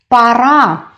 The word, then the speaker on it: пора: the second word is para para the last syllable is stressed that is why first Oh in this word is pronounced as ah para it means it's